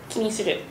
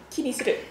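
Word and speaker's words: 気にする: 気にする。ちょっとアクセントあれかな。おお。気にする。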